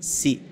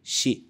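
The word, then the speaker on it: し: xi s c s repare que não tem o som de si e sim de xi Depois temos ta t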